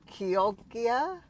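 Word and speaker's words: Chioggia: I know that the CH is a hard K sound, so Kyogia?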